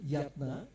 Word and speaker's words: Jatna: Eh, my name is I I should be pronounced yatna because this why it's a old eh vocal eh Dutch during the Dutch.